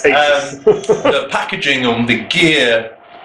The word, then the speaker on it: Asus: I've got to admit, in comparisons to, because I'm an Asus or Asus man, my Asus, not Asus. Asus. Americans say Asus. Asus. It's Asus.